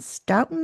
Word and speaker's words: Stoughton: It was first published in 1956 by Hodder and Stoughton, I believe is the pronunciation, published by Dean Street Press in 2021.